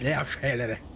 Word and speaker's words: La Rochelle: It's how you do it in French. La Rochelle.